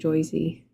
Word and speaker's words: Jersey: They're from Jersey, actually pronounces it Joyzy.